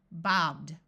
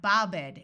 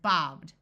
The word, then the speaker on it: bobbed: So after the letter B, it's going to sound just like a D, bobbed. Notice there's no et sound. It's not bobbed, it's just bobbed.